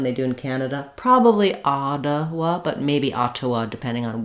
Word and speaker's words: Ottawa: Probably Ottawa, but maybe Ottawa, depending on where in Canada. And then we'll have the schwa and our wa another schwa. So, Ottawa. First syllable, Ottawa.